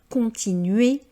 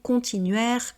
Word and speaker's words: continuer: C'est bien le son et, continuer, décider, et non pas décidaire ou continuaire comme je l'entends fréquemment parce que les personnes ont tendance à vouloir prononcer toutes les lettres à l'anglo-saxonne.